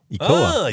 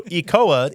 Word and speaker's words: ECOA: ECOA? ECOA. That's like Ebola.